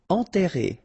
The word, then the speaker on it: enterré: Enterré, okay, remember, N together, nasal, en, and then you get this double R here, and it will open the sound of the E, okay?